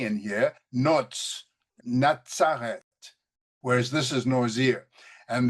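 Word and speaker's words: נצרת: have the tzaddik, and it's the tzaddik that gives us that pronunciation of Natsareth, and the Z up here for Nazarite gives us the pronunciation Nazir.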